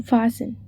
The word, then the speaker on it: fasten: Select the silent letter in fasten.